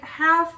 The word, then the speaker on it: half: Like half with an F, you don't really pronounce the L.